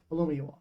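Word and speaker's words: Olumuyiwa: Yeah, Alumiyawa.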